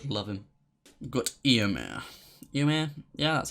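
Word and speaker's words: Éomer: you've just got to love him we've got eomer you man yeah that's how you say it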